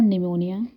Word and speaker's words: pneumonia: Syphilis, P stands for pneumonia, here P is silent, T stands for typhoid, again T stands for tuberculosis, also known as TB.